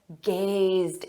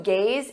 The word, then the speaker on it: gaze: I would probably say gazed into my eyes to gaze into one's eyes is to look deeply or with admiration notice that pronunciation gaze gaze repeat gaze gaze she gazed